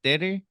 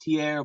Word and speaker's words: Tierre: It's like it's officially pronounced Tierre, but like yeah, all my uncles like I'm half Puerto Rican and half black. So like everybody from my Spanish side says it like that, shortened and just the accent.